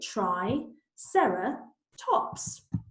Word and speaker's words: Triceratops: Triceratops means three-horned face how do you say it try Sara tops now what we need